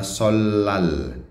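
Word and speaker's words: 설날: Solarina, ini bacanya solal, huruf mati real bertemu nian dibaca double L, solal.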